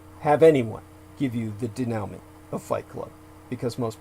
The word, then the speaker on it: denouement: That's denouement. Most of you would never have anyone give you the denouement of Fight Club, because most people are incapable. Denouement, by the way, is spelled, I'm asked how it's spelled now from